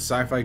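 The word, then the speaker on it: Syfy: because I remember the Sci-Fi channel changing their name to sifi I I know it's still pronounced sci-fi but it's it's it's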